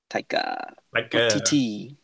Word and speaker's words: Taika Waititi: Taika Waititi. Taika? Taika Waititi.